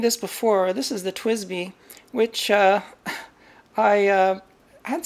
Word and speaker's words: TWSBI: But people have told me in the comments, no, it's pronounced Twisby. You're supposed to say Twisby, which is fine.